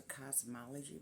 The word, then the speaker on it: Cosmology: But this is a cosmology brush, spelled in this weird fashion, Kazmaleje. But it's pronounced cosmology as in, well, cosmology, like COS, but that's the way they spelled their brand.